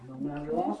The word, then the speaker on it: Bill Mazeroski: Is that pronounced right? Bill Mazeroski.